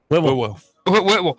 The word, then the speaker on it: Whitwell: Whitwell. Remember, think of it this way. I'll start writing it out for you phonetically. It's W-H-I-W-O-O-L. Whitwell.